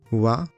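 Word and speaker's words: は: Wa, qui s'écrit ha mais qui se prononce wa, est la particule du thème.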